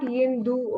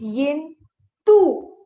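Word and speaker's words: 印度: So India is called Yin, Tu. So the letter D makes the sound ta. Okay, ta. It's not Yindu. Okay, please. No Yindu. It's Yin, Tu.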